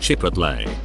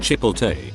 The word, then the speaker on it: Chipotle: It is pronounced Chipotle, not Chipotle, nor the uglier stepchild Chipotle.